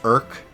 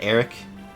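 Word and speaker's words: Erk: So his name is pronounced Irk, not Eric. It is Irk.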